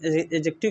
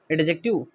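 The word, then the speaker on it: adjective: और आज हम एजेक्टिव के बारे में पढ़ेंगे। एजेक्टिव जानते हैं ना? एडजेक्टिव नहीं बोलते, एजेक्टिव। डी साइलेंट होता है।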